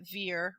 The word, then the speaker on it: Vere: reader must remember that veer retaining its french sound is pronounced somewhat like the word bear and the last syllable